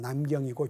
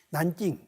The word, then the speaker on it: 난징: 여기서 군사학을 공부하다가 한때 여름방학을 맞아서 잠시 귀국을 했다가 다음 해에는 다시 난징, 남경이라고 그러죠. 한문으로는 남경이고 중국 발음으로는 텐징, 난징, 남경 대학살 사건이 있었던, 거기에 있었던 금능대학에 들어갔죠.